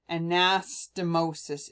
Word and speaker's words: anastomosis: animosity ana and so let's try that again anastomosis is how you say it anastomosis okay that's enough